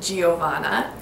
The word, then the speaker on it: Giovanna: This is the feminine Italian form of John, which means God's grace again, and this can also be pronounced Giovanna.